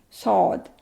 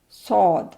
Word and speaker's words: ص: this one is saw if we say we can pronunciate saw in English we can easily say sod sod S this is s